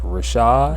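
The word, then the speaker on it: Rvshvd: his name is Fordham told his name is pronounced Rashad it don't look like it but it's spelled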